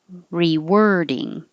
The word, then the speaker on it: rewording: And 23 is spelled with an O, but sounds like an E. Rewording. Rewording, like where were you?